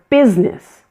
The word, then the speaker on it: business: Business is another one of those words that has a missing middle syllable. The I in the middle of the word is not pronounced at all, and this word becomes 2 syllables.